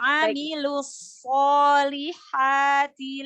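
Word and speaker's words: عملوا الصالحات: Yang pertama shotnya disukunkan, tapi sambil mengalir, baru diambil shot fathah.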